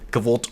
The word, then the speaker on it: kvlt: Now, in case you're unaware, cult, or cult as it's actually pronounced, is just kind of